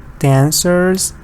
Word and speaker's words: dancers: like teacher and teachers here it's a schwa dancers here it's short like like a little e here dances good dances